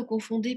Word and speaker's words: confondez: Обращаю ваше внимание, как и в предыдущих глаголах, здесь во множественном числе «d» произносится, а в единственном нет. То есть «confondons», «confondez», «confondent». И voilà.